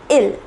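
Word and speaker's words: ils: next one is ill though there is an S here it is not pronounced it is ill it means they it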